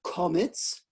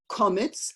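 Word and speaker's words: קמץ: in Ashkenazi pronunciation, it's komitz. So let's say that, komitz, like you say chometz for Passover, because that's the Ashkenazi pronunciation.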